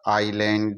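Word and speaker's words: island: आई और एल यहां आई और एल के बीच में एस आ रहा है तो स्टूडेंट्स यहां पर एस साइलेंट हो जाएगा आइलैंड ही इसका उच्चारण होगा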